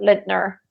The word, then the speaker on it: Lindner: it in German it's Lince now if you say it in English it's probably whatever lidner yeah yeah it's the